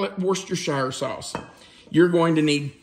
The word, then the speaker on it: Worcestershire: of Worster shower sauce if I mispronounced it you don't have to correct me nobody that I know says it correctly but I call it worst your shower sauce you're going to